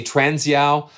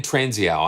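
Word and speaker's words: Transeau: I want to say Transiao, but just a fabulous creative musician, sound designer. So yeah, BT Brian Transiao. I think that's the way you pronounce it.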